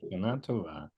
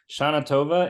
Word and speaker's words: Shana Tova: So you said there's a Yiddishized pronunciation which accents the first syllable of Hebrew words, and then the Hebrew pronunciation accents usually the last syllable. So Shana Tova is Yiddish, Shana Tova is Hebrew.